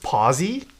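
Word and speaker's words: Posay: pretty good brand overall that's pronounced posi nah I like poussey better La Roche poussey foreign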